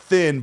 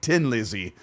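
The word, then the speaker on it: Thin Lizzy: told most of my life that the official pronunciation of this band from Ireland is not thin but Tin Lizzy and I don't know if that's like to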